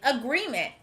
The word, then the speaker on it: agreement: This word is agreement. We hear the sound at the beginning of the word again.